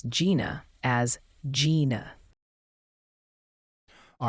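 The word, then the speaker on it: Jena: the locals pronounce it locals in Louisiana typically pronounce Gina as Gina all right what about opalus opalus is usually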